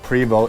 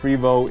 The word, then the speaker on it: Prevost: This seems to be a very touchy thing amongst Prevost enthusiasts. I got used to saying Prevost because that's the way I heard it pronounced the most.